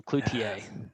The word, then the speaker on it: Cloutier: No, but on the intro thing, I have, so Cloutier.